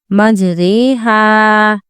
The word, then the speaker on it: مجریہا: اور یہ ورڈ ہے مجریہا۔ اس کی ہجے ایسی ہوگی میم جیم زبر مج، رو امالہ والی رے، مجرے، ہا الف زبر ہا، مجریہا۔ رو کو بڑی یا والی آوازیں پڑھیں گے۔ یہ اکلوتا کلمہ ہے